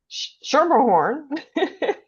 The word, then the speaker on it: Schermerhorn: And again, we're here with Shermerhorn.